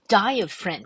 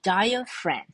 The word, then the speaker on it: diaphragm: 叫做 the diaphragm，这个字比较专业的单字哈，前面 dia dia 念 dia ph 发辅的音，好，所以 diaphragm 这个 g 它就不用发